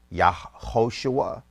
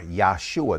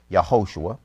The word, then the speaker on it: Yahoshua: So we say Yahoshua or Yahshua. That is the elite version, and we tell you why. So I'll go here and I'll read this. The Judean pronunciation for the Messiah is most probably Yahoshua.